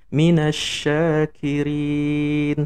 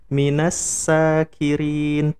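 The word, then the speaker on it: مِنَ الشَّاكِرِينَ: Minasyakirin, pakai shin. Nah, itu artinya orang-orang yang bersyukur. Kalau kita nggak ngaji, terus kita sembarangan bacanya, kita baca jadi minasakirin pakai sin, maka artinya berubah jadi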